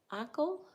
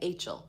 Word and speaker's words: Achel: Achel? Ackle? Hey, Kevin. Oh, Ruby burrs. Hey, Minute. Like Rachel. Oh, okay. Achel.